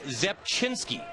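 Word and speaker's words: Rzepczynski: ARA Franklin lyric here RZ C Z zinski this is Zep chinsky and we Scout him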